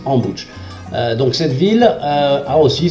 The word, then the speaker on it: Ambositra: Après Antsirabe, nous reprenons la route vers le sud et nous rendons à Ambouch, qui s'écrit Ambositra, mais qu'on prononce Ambouch.